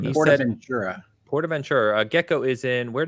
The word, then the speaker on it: PortAventura: It's How not dare you, Portaventura, which would be in like Southern California.